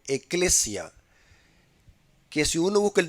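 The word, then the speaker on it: ἐκκλησία: Inclusive en el idioma griego, la palabra iglesia es una palabra que se pronuncia en el griego eclesia, que si uno busca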